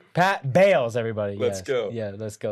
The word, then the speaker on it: Bales: Bales. Yes. Bales. Oh, My bad. Oh. All right. And he's my good buddy. I say his name wrong. Pat Bales, everybody.